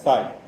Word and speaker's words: psi: this function PSI so this is a rich letter which is pronounced as PSI so this particular function